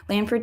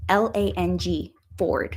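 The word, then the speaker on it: Langford: i can't pronounce it Lanford thae style um Lang l a n g Ford like the car Lang Ford style tie and I believe they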